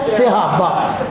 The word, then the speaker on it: صحابہ: صحابہ۔ یہ لفظ کیا ہے؟ صحابہ۔ صاد کے اوپر فتح ہے، صاد کے نیچے زیر ہے۔ جس کو یہ نہیں